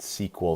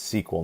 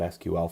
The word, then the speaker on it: SQL: it's called my sequel SQL is pronounced sequel so if you see that out there in the industry is its sequel not SQL for the most part